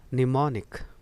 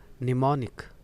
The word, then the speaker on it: mnemonic: हुआ है फोनेटिक्स में निमोनिक, निमोनिक। प्रोनाउंसिएशन हो गया, इसे आप निमोनिक पढ़ें।